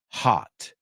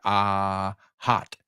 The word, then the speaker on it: hot: Now, por favor, dime que no dices hot, ho, o. It's not an O, it's ah. When you go to the dentist or you go to the doctor, hot. Pero no es larga, es cortito. Hot.